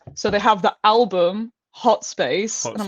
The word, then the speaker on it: thxt_space: Um, so I kind of just say like the T is silent, it's hot space, but it is thought Hot space.